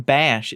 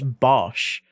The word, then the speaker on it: Bosch: But yeah, because when I was streaming with with Bosch once, um, he started correcting people saying, "You're saying bash. It's not. It's Bosch."